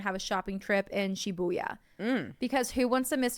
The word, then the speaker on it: Shibuya: live in the town shabuya shabuya roll call I'm there shabuya I would be the mayor sh it's literally the pronunciation that she has is sh buya Shibuya Shibuya shuya shuya roll call